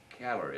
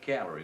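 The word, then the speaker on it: Cagliari: and went over to calorie I believe they call it c-a-g-l-a-r-i they you don't pronounce a g in Italian they call it calorie we've landed there and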